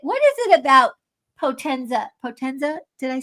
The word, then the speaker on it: Potenza: Potenza?